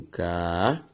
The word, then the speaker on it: caráter: Porque ao separar caráter, eu tenho caráter. Sílaba tônica ra, paroxítona terminada em coisa diferente de A, E, O e EM, por isso devidamente acentuada.